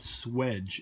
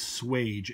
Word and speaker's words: swage: rotary valve swaging tool there are two ways to write and and pronounce this word that are accepted and neither of them seems to be correct or incorrect I was taught swedge swed GE and the other word is swage SWA GE note no D ferry